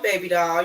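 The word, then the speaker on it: Baebe Dahl: It's your girl, Baby Doll. You can find me on all social media platforms at Baby Doll. That's spelled BAEBE_DAHL.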